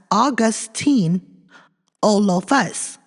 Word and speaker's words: Augustynolophus: Later named Augustynolophus maurici, pronounced as Augustynolophus.